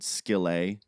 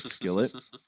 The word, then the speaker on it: Skillet: this ongoing joke where we pronounced it skilet instead of Skillet SK and and it